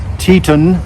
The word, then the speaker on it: Teton: It is I believe you pronounce it Teton, as in Teton Mountains or whatever, but mine and Lee's, both of ours, go to 25 below.